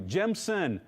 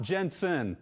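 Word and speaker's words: Gemsen: Gemson, not Jensen. So, hopefully I pronounced that good enough. It's not Jensen, it's Gemson, g e m s e n.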